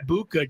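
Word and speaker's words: Egbuka: Eggbuka. Just like it looks.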